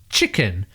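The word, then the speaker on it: cicen: the old English term chicken spelled c i CC e n but pronouncing that first c as CH where it is used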